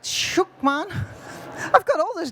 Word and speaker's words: Schuckmann: her name is Karina vonlukman. Did I say it right? Shookman, man.